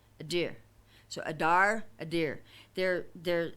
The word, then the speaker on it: adir: word strength which is adir i might not be pronouncing it right so forgive me if i'm not but it's spelled a d i r in the transliteration a deer so adar adir they're